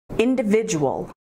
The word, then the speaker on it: individual: And there's one more thing you have to know, that the second D here is not pronounced like a D, it's pronounced like a J.